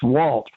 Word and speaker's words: Jualt: So I finally got exasperated, and I went to a wall with a piece of chalk, and I wrote Jualt. It's Walt, like Juan, got it?